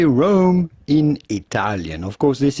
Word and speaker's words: Rome: Well, that's not how we say it in English. And maybe that's how they say it. I'm not sure how they say it in Italian. No. Yeah. Roma. But we're going to give that. In English, we say Rome. Let's see. I don't know. Roma. I've heard that too. Let's see. Rome pronunciation. I've heard many people say Roma. Rome. All right. So in English, it's Rome.